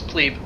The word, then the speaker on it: plebe: pronounced clip no it's plebe it is actually pronounced with the long e let's see if we